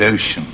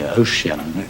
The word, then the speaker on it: ocean: and wasteful ocean scan what happens to the word ocean oh see um maybe ocean that's right so it looks like a nine syllable line which is unusual and if we're to have ten syllables we have to make ocean three syllables and surely we're glad